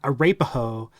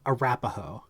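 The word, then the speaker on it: Arapaho: our pay ho it's not a rape oho it is a rapaho I feel like I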